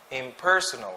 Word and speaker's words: impersonal: twice we have impersonal impersonal sort of stress in the second second syllable impersonal impersonal next immortal